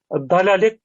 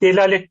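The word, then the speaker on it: dalâlet: hiçbir alakaları yok ama çok fazla yanlış okunuyor dalalet genelde nasıl yanlış okunuyor bana hep delalet diye okunuyor palet delalettir okundu mu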